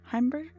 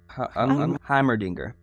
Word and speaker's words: Heimerdinger: The professor. Heimberger? Heimerdinger. Yes, Heimerdinger. I'm glad you can remember how that's pronounced.